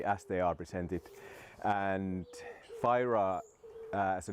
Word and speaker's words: Fyra: they are presented and fyra as a name when you pronounce it in original Swedish it's pronounced pura and it actually means